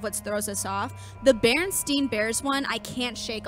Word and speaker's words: Berenstain: first came out, and I'm still saying it wrong, the Berenstain Bears, it's the Berenstain Bears, but we all know what you're talking about.